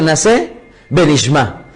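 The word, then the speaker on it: נעשה ונשמע: utilizado muchísimo, que se llama, o que se pronuncia Naseh Benishma?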